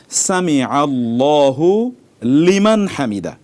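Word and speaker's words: سمع الله لمن حمده: না ভয়াবহ বিকৃত হবে সেজন্য পড়তে হবে সামিআল্লাহু লিমান হামিদা নট সামি আল্লাহু লিমান হামিদা এভাবে যখন পড়বো তখন এটি ভুল হয়ে যাবে ধরুন কেউ পড়েছেন হয়তোবা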